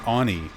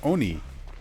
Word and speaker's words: oni: um for decades and I've never in my life heard somebody pronounce it "on e". And even looking up footage just to make sure I wasn't like being Mandela affected, I've I pulled up a video of a native Japanese speaker talking about the history of the folklore of the Oni and they say it just the same way I say it, Oni.